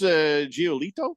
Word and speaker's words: Giolito: They just, Lucas Giolito.